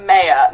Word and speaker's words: Maya: I do pronounce it Maya, not Oh, Maya, Maya.